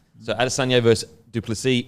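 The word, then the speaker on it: Du Plessis: I think it's spelled dupus but it's actually pronounced dupy so adisan vers dupy it's going to be an incredible fight I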